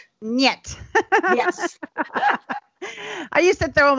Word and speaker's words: Нет: Awesome pronunciation. and how do you say no in Russian? Нет. Нет.